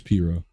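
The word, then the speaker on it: pirogue: dugouts it's not so it's spelled like pie rogue so it's not the clown spelling it's just the the cajun the french cajun or creole word uh all right it's piro let's get on the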